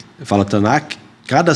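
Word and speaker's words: Tanakh: Aliás, cada sílaba do nome tan que eu falo ou tc, como alguns falam, eu falo Tanac. Eu falo Tanac.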